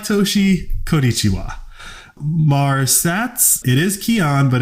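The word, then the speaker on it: Kian: with a K yeah it's my name with a K that was like my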